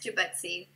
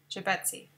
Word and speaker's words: Jubutsi: Is it Jubutsi? Yes, it is. Can you pronounce it for me? Yeah, it's Jubutsi. Jubutsi.